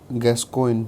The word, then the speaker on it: Gascoigne: Then we come to the court dramas of the pre-Shakespearean times, and the pre-Shakespearean court dramas include George Gascoigne, Gascoigne. G is silent here.